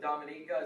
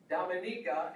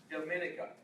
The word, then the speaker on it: Dominica: is an entirely different place the commonwealth of dominica is pronounced dominica and not dominica it's not the dominican republic so it's dominica